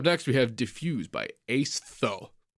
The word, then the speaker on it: Aestho: Coming up next, we have Diffuse by Aestho. Like aesthetic, but Aestho. Aestho.